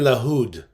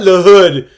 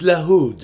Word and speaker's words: LaHood: It's Darren Lahood. Please say it right. It's not Lahood. It's Lahood. Okay? Cuz he's Lebanese.